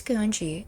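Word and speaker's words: Kuonji: It's not It's not French. Nero. Come on. It's not Larry. It's not French. It's Japanese. You say every syllable as you see them when facing a roommate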